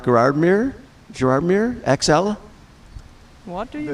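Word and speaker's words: Gérardmer: Is it pronounced Gerardmer?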